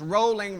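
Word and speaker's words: Rowling: that's how she teaches he says rolling rhymes with bowling so I I'm there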